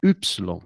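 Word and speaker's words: υ: Tem que fazer um biquinho assim. Y. É como a friend Ruth falou, né? É como o U de buffet, que é do francês. Você tem que tentar ajustar esse ruidinho, esse tá? Me ensinaram assim, faz boca de U e tenta falar um I. Assim, Você consegue, como é que é? Fala de novo. Tenta falar o I, mas fazendo bico.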